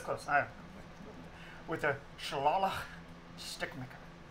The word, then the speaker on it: shillelagh: Shillelagh. Yeah, that's how you pronounce that. See, I saw GH, so I was thinking it was actually pronounced like this. Welcome to Ireland. Yeah. Ireland shit, I guess. It's Shalali. I've got a laxative that